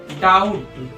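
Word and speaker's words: doubt: याद रखना कि बी अगर टी से पहले आ जाए तो बी साइलेंट होगा तो यहां बी साइलेंट है तो इसको क्या पढ़ेंगे डाउट इसीलिए इसको डाउट पढ़ते हैं आपका भी डाउट खत्म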